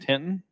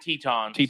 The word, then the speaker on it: Teton: We gave mid-8s Grand Tinton. Grand Teton. Yeah. If you'd have said, granted, it's a very hard word to pronounce. If you said, it's T-N-T-O-N. Tinton. Yeah, is what I would say. Teton.